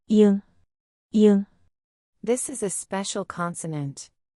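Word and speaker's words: 이응: It has no sound at the beginning of a syllable, it's a placeholder. At the end of a syllable, it sounds like ing, like in sing.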